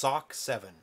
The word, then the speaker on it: S07C7: S07C7 is generally pronounced Sock7. Oh, okay, Sock 7.